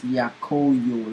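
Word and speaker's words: Yakoyo: this for pronunciation sake make this yako yo like y-a-k-o and then the yo is like yo like y-o right so that's what we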